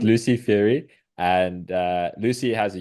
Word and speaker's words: Feighery: by Lucy how do you say your surname Fury yeah it's really diff difficult to pronounce even IR people can't pronounce it I thought it was safer to ask you it's Lucy Fury and uh Lucy has a YouTube channel it's